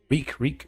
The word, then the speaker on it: Reek: Reek. It rhymes with freak.